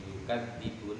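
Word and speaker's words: يُكَذِّبُونَ: Nah, cara baca lafaz yakdibun iku bitasdidi. Ai gua bitasdid. Iku bitasdidi kelawan tasdid. Tasdid dadi yukadzibun melok wazan kadzab melok wazan fa'ala yufa'il dadi kadzdzaba yukadzibu.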